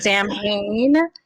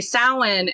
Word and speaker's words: Samhain: i hear people in tv shows or movies pronounce samhain as samhain i hate that so much and i was so excited when i heard you pronounce it correctly and say samhain and so my question is did you already